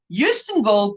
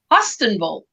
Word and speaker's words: Hustonville: Where I live, everyone pronounces it Houstonville, but it is spelled Hustonville. So outsiders pronounce it Hustonville.